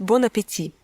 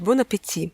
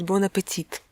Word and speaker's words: bon appétit: английском языке говорит кому-нибудь «bon appétit». Причем американцы, они часто неправильно произносят эту фразу, и можно услышать «bon appétit».